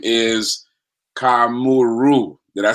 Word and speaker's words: Kamuiru: their last name is Kamuiru. Did I say it right this time? I've known you guys forever, and I could never say your name. It's okay. Well, it's Kamuiru, but it's very Kamuiru.